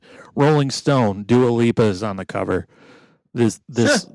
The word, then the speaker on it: Dua Lipa: Dua Lipa. Dua Lipa. Okay. No, Dua Lipa.